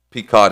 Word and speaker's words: Pequot: of Plymouth County were at war with the Pequot Indians. Did I say that right? On Pequot? You said it right. You said it Pequot.